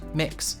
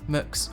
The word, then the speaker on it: Mx: accepted and understood the gender neutral title mx pronounced mix mooks or mx was also introduced in